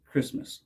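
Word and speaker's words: Kiritimati: it is in its original language Gilbert ease kiramati is pronounced Christmas so kiramati island is Christmas Island not to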